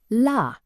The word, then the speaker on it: la: Simply say la. Open your mouth naturally and produce a clear ah sound.